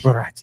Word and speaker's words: Barati: Herman Barati. I love it. How do you say the last name? Is Barati. Barati. Like karate. Like you karate.